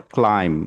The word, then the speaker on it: climb: তাহলে কি হচ্ছে, মূল ওয়ার্ড কিন্তু আমার ক্লাইম, যেখানে এম বি পাশাপাশি আছে এবং বিটা শেষের ওয়ার্ড হিসাবে আছে, ফলে এই বিটা কিন্তু সাইলেন্ট হয়ে যাবে।